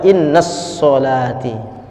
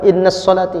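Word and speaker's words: إن صلاتي: syu'abul Iman Imam al-baihaqi tetapi banyak juga orang yang keliru membacanya di mana kekeliruannya saat dia baca Inna sholati tidak sedikit orang membaca kindness sholati Kenapa Inna sholati ini tak pakai tasdin ya harus dipisahkan Inna sholati tidak boleh Inna sholati tak boleh kenapa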